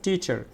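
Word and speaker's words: teacher: এখন দেখো এখানে হচ্ছে টিচার, তাহলে টি শব্দটা হচ্ছে ট্রেস সিলেবল, তাহলে এই টিটা আমরা একটু জোরে উচ্চারণ করবো, টিচার, টিচার, টিচার।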